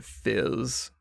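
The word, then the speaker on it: Fiiz: to jump over to Fizz and that is spelled f i i z for the listeners at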